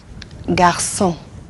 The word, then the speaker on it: garçon: Garçon, yeah. Boy. Français. French. Un beau garçon. You see, it's pronounced like a C, a normal C.